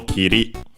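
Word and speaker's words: 切り: case it's uh okay it's regular so it's accented on the last syllable kiri which actually uh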